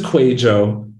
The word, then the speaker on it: Kwadwo: So my name is QUĀY.jo, which my dad immigrated from Ghana. It's not your standard English name. My website is spelled phonetically.